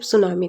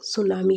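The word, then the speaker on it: tsunami: जैसे एस के ऊपर एक सिंबल दिया रहेगा जिससे आपको ये पता चलेगा कि पहले हमको एस पे स्ट्रेस देना है। इससे आपको ये पता चलेगा कि इसका स्पेलिंग सुनामी है, नॉट टी सुनामी।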